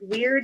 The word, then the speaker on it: wyrd: And weird is spelled WYRD, and it's referring to a rune from the Norse rune set.